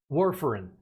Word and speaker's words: warfarin: quickly was is it where foreign am i pronouncing that correctly warfarin yeah can you explain what that is very